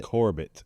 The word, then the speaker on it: Corbett: So, so when we had we had Steve Corbett Corbett on um I don't want to say his name like French. He It's Corbett. Corbett.